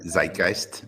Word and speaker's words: Zeitgeist: word's not in their Zeitgeist Robbie zeist it only has two syllables it's probably in the